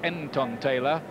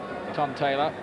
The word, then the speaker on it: Ntontela: His name looks like Ntontela, to look at it on paper, but I'm told reliably that you miss off the first N when you pronounce it.